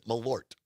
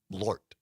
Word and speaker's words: Malort: But Carol says it's one syllable. Malort.